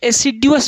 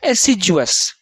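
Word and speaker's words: assiduous: ऐसे इसका उच्चारण क्या होता है, एसिजुअस। डी को ज बना दिया, डी को ज बना दिया, एसिजुअस। ठीक, तो आपको जैसा अच्छा लगे, एसिडुअस या एसिजुअस, दोनों तरह से याद कर सकते हैं।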